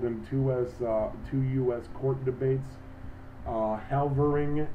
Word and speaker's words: Helvering: Halvering, which is spelled Helvering, versus Davis, 301, U.S.